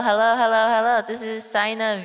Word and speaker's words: SainaVT: This is Sina. is silent.